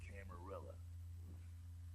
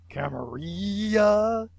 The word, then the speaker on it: Camarilla: That's the Camarilla. They make a tidy business out of enforcing vampire laws like this one. Shouldn't that be pronounced Camarilla? Because I'm pretty sure it's Italian. Camarilla.